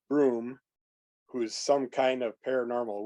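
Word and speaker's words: Bruttenholm: Stateside and then Trevor Brewton home pronounced broom who's some kind of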